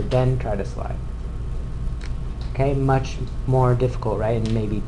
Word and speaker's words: mu: letter looks like this anyone know how we pronounce that letter yeah mu good that's a mu m u so anyway that's called mu and